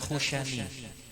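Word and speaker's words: al-Khushani: Ya, tadi dikoreksi, cara bacanya itu bukan al-khushni. Khushni apa yang baca tadi? Khushni. Yang benar khushani.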